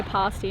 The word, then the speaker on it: pasty: We say pasty in Australia, but it's pronounced pasty here.